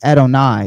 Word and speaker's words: Adonai: Um, it's Adonai. Yeah, it got to be Adonai.